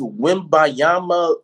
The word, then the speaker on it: Wembanyama: It's Wembanyama.